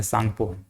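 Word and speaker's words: Tsangpo: सांगपो कहा जाता है ऐसे सांगपो लिखाता है लेकिन यह टी साइलेंट रहता है सांगपो सांगपो बोलते है इसको और यही हमारे छ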